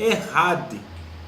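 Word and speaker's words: echad: Então, essa palavra único, na língua hebraica, no original, é Errad. Errad. Tá? Se escreve E-C-H-A-D. Errad.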